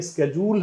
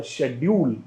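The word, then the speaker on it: schedule: जो कि यहाँ पे लिखा हुआ है ये स्केड्यूल है, ये आपका अमेरिकन प्रोनाउंसिएशन है, और यहाँ पे हम देखते हैं ये है आपका शेड्यूल, ये आपका ब्रिटिश प्रोनाउंसिएशन है।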